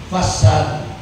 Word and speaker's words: facade: ang English dyan ay facade. F-A-C-A-D-E. Pero ang baba, pag binasa ng wrong pronunciation ay facade. Facade. Pero ang pronunciation ay facade.